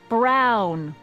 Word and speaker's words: Brown: bill to a t that's EMT Brown rhymes with clown which I'm beginning to